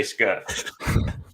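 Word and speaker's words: Scherff: Hey, Schnobbly, how do you say Scherf?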